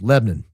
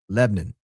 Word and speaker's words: Lebanon: It's really two syllables. Lebnon. L E B N U N. Lebanon. That's how it's pronounced here in Nashville. Lebnon.